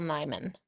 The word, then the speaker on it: Nyman: I came across it some other way, but it's by Michael Nyman. Oh, yeah. Yeah. No, Michael Rhymes with Nyman's Hyman.